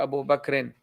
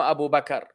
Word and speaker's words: Abu Bakr: In the Arabic language, if you're continuing the sentence, it's definitely not Abu Bakr. That's out of the picture. If you continue in the sentence, tamam, then you will pronounce the diacritical signs at the end.